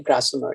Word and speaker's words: Grasmere: and some along the Grasmere. Am I pronouncing it properly? Grasmere, yes.